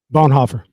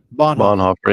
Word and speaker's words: Bonhoeffer: Bonhoeffer. Bonhoeffer, yeah.